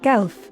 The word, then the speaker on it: Guellf: Gelf. Yes, you do. You say it right every time. Gelf. Like elf with a G in front.